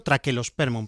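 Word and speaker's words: Trachelospermum: Este no pertenece a ese género, sino que pertenece al género trachelosperm. Correctamente habría que decirlo traquelosperm, pero yo pronuncio la che.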